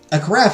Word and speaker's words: carafe: Rhymes with giraffe.